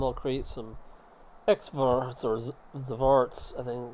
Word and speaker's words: Xvarts: This time I'll create some Xvarts or Zarts. I think it's Yeah, I think it's pronounced Zar. It's because the X sometimes sounds like a Z.